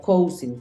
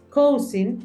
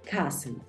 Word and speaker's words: cousin: Cousin no se pronuncia igual como se escribe. Se pronuncia cousin, cousin.